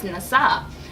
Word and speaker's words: Nsaa: So the symbol here, it's Nasa, and it's spelled NSAA, which stands for quality.